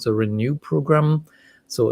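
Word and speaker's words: ren.nu: intervention program called the renew program so it's r e n dot n u so for renal nutrition but it rhymes with renew renew your kidneys if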